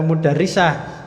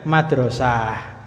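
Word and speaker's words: مدرسة: bukan dari bu guru jangan baca mudah Risa Ayo bacanya Madrasah tulisannya sama persis Cuman beda bacanya itu Minal madrosati artinya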